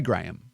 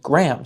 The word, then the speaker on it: Graham: We say Graham. Two syllables. use all the letters.